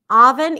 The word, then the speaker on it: oven: thought it was oven this is a tricky word and often mispronounced so a lot of people do put an o sound oven and this is why oven sounds okay to you but in fact it's an open a sound not openen but like a